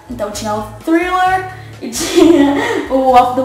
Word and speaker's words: Thriller: because I learned that you have to put your tongue in the middle of your teeth when you pronounce the "TH" sound... so she had Thriller, and she had Off The Wall.